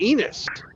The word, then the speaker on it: Enos: To a little town called Enos, which rhymes with penis.